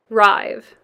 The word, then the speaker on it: rive: And it's pronounced rive.